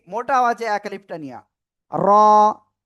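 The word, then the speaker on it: ر: র। র। র। জিহ্বার আগার পিঠ তার বরাবর উপরে তালুর সাথে লাগিয়ে র অক্ষরটি উচ্চারণ হবে মোটা আওয়াজে এক আলিফটা নিয়া। র।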